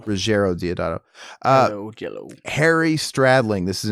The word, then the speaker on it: Ruggiero Deodato: Ruggiero Deodato.